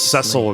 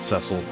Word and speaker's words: Cecil: Did I just assume it was pronounced Idolon and not Idolan? She also says Ceil instead of Cecil, which is You should get some rest.